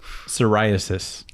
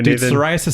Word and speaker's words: psoriasis: you yeah you would psoriasis oh that's spelled differently and that's about your scalp cuz it's a different word yeah why would psoriasis be on your liver psorasis starts with a P did you know that